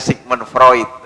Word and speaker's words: Sigmund Freud: Yang tulisannya Sigmund Freud, itu bacanya Sigmund Freud.